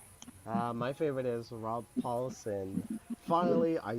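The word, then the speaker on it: Paulsen: my favorite is rob paulson finally i said no don't you mean raw pollution in case you haven't know uh spider kevin uh i voiced mispronouncing paulson's name i always called rob pollutin it was in the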